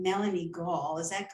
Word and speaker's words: Gall: I think she pronounces her name Melanie Gall. Is that correct? That is correct. So many people get it wrong. It's gall, like gallbladder.